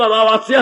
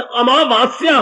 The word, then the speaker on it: अमावस्या: शब्द अमावस्या है। आ मां के बाद फिर आ की मात्रा, वाह के बाद फिर आ की मात्रा, आधा सा या आ की मात्रा, अमावस्या।